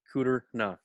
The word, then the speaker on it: Kudrna: just how it sounds just put an e in there between the r and the uh the d and the r then it really makes sense cooter no let me